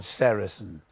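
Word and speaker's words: sericin: One of them, a very important one, is called sarasin. You spell that s e r i c i n.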